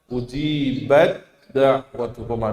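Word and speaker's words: أجيبت دعوتكما: Maka langsung taknya lebur masuk ke huruf dal. Gimana berarti bacanya? Ujibat da'watukuma, diidgham kan, ya. Jangan dibaca jelas ujibat. Nah, ya. Tapi langsung dimasuk kepada huruf dal.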